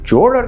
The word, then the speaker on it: Chola: In Tamil, the letter 'ச' can be pronounced as either 'cha' or 'sha' or 'sa', but in Grantha script, 'cha' and 'sa' are different.